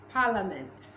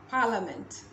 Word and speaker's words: parliament: in it next this parliament parliament not parliament i know there's an eye before the a but that's the way english is the rules do not follow the spelling so parliament are not